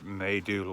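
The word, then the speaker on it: Maidu: morning i stayed at maydoo lake i guess that's how you pronounce the m-a-i-d-u they do lake last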